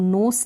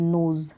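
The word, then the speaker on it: nose: न ओज, नोज, अब नोस नहीं बोलेंगे, नोज, ज का साउंड दे रहा है ये एस।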